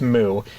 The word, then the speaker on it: MW: searching for it the Wikipedia page says it's pronounced moo and then I was like okay but this